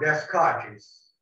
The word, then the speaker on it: Descartes: in 1664, 17th century, Descartes, this is not Descartes, okay? The pronunciation is Descartes, thought that pain is